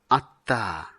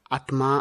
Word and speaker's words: আত্মা: এরপরে আমরা দেখতে পাচ্ছি আত্মা। অনেক সময় ভুলবশত আমরা আত্মা উচ্চারণ করে থাকি, যা ব্যাকরণ সিদ্ধ নয়।